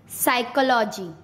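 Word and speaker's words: psychology: पी कब silent होता है? जब एस से पहले पी आता है तब पी साइलेंट हो जाता है। किससे पहले? एस से पहले। जैसे साइकोलॉजी, साइकेस्ट्रिस्ट, साइकोथेरेपी, एस से पहले पी, साइकोथेरेपी।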